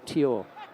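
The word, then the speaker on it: Tior: Yeah, to finish off on that, it should really be T-I-O-R, Tyor. Tyor. Yeah. That's how Sure. you pronounce it.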